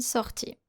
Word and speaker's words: sortie: Sorti and sortie. They have the same pronunciation.